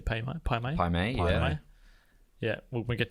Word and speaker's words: Pai Mei: Pai Mei, yeah.